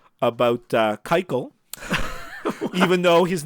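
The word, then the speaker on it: Keuchel: right somethings to be I don't understand how a word that's written k u c h e l is pronounced Kyo now this makes no sense to me okay but neither does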